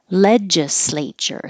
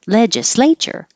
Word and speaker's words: legislature: round Equinox vernal equinox legislature slay is underlined because it's a secondary stress so it will get longer but not higher because you don't want it to be too jumpy legislature legislature one two three